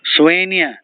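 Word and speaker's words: soigné: SL a d h slowly disorderly slowly disorderly swen s o i g n e swen elegant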